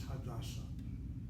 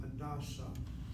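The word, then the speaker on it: Hadassah: The proper name is Hadasa. Hit the first syllable for the personal name. Hit the second syllable for the hospital.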